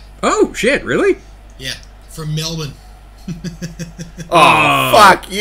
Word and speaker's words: Melbourne: oh I'm so happy yeah and they actually pronounce Melbourne correctly it's Melbourne Melbourne Melbourne have you been to Melbourne I've